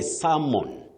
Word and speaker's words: salmon: Dickens nyaga, you say salmon. Salmon. That L is silent.